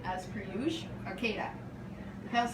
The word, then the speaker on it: Arcata: Raquel's correcting my mispronunciation as per usual. Arcata.